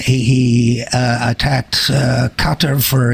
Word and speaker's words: Qatar: He said he attacked Qatar for its hundreds of millions of dollars, quote unquote, supporting quote unquote radical Islamic terrorism. A quote from the tape: "We've always pronounced it Qatar. It's Qatar they prefer.